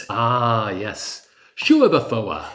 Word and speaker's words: Schueberfouer: Shouafa. It's like every syllable is sacred and deserves to be heard.